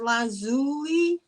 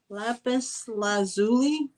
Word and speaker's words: Lapis Lazuli: And if you're into stones, oh, it's pronounced Lazuli. Lapis Lazuli.